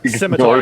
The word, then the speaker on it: scimitar: Scimitar, Ignore the yeah. C. Added an extra Scimitar. syllable. Yeah, it's like science.